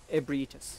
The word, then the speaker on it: Ebrietas: Ebrietas.